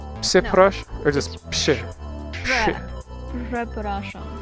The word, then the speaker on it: przepraszam: So it's more like przepraszam. So it's like a sh Sure. rather than a ż.